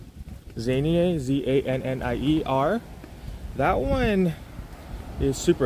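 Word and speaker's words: Zannier: There's one like that starts with a Z, can't really pronounce it, Zanier. Zanier, Z-A-N-N-I-E-R.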